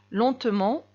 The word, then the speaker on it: lentement: très vite deuxième phrase il marche lentement lentement j'ai prononcé le on parce que lentement c'est un adverbe il marche rapidement aussi